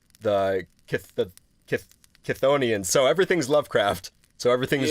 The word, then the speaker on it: Chthonians: Yeah, I 100% believe Onions is the correct way to end it. As for the beginning part, it's like... Yeah. Chitha, Kutha, Kahatha. Because it's not Cthulhu, because it's not spelt like how Cthulhu is spelt. It's not CTH, it's CHTH. Chthonians.